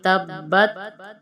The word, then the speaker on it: تبت: بسم اللہ الرحمن الرحیم۔ تبت ہم پڑھیں گے تبت، جو تا ہے ساکن، اس کی آواز نہیں نکالیں گے۔ تبت یدا مد ہے تو اس لیے ہم دال کو کھینچیں گے۔ تبت یدا ابی لہب و